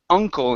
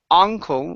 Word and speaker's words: uncle: last one here is Uncle instead of a uncle with an a sound it's uh uncle Uncle good all right